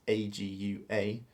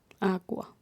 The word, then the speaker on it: agua: even though it's spelt a GU a it's like a double you isn't it now y agua but you don't say the g our uh what exactly